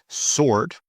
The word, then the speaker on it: sword: Wrong, silent W. Wrist, this is my wrist. Sword, whole, who. Whole, who. Sword, wrist, wrong, right.